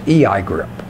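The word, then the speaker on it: EIGRP: it which is the enhanced version which is a I grip and that's the pronunciation of both of those ok and both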